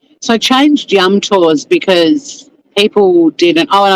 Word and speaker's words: Yum Tours: People didn't pronounce it the right way, and it gave me the shits. I kept being referred to as Yumters, and it really pissed me off.